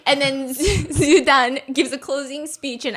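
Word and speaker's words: 朱丹: start saying, it's okay, Zugan. So they're getting her name wrong, okay, because her name is Zudan.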